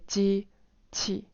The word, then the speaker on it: 机器: in the past is you de-stress the second syllable. So you say 机器. Tones are 1 and 4. 机器. The qi is like 5 to 1, right? But now it's de-stressed, so it's 3 to 1.